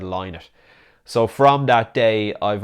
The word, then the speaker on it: Lynott: the host asked the question how should we pronounce his name what did he prefer was it linard or L it and they both said line it so from that day I've always pronounced Phil's